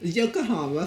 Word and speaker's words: Yokohama: seven military police company and how do you pronounce this in Japan you're all Yokohama thank you happy new years and of course